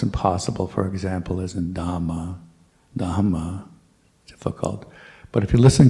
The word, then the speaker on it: Dhamma: So do try to pronounce all H's in Dhamma, Buddha, Sangha. And that's always difficult because, as I said before, in English we usually just skip over H's when they're next to a consonant. So Buddha, Dhamma, Sangha.